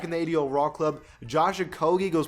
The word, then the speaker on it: Okogie: Josh Okogie goes +2 from the 76 to a 78.